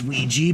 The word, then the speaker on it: Ouija: from I believe 2009 yep and Luigi it's ouija but I don't give a it's spelled oag and then I have a scary